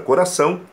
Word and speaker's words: coração: entonação na sílaba correta por exemplo coração não existe coração não existe coração a palavra coração é uma oxítona com ênfase na última sílaba são coração usar a